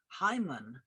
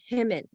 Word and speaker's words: Hyman: Donna, Summer, Joni, Mitchell, even Hyman. You You know it's pronounced Himmin.